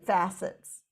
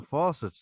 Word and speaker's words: facets: Silly me would say, "Oh, faucets. Oh yeah, like in the sink." Yes, it depends on which syllable you put the emphasis on.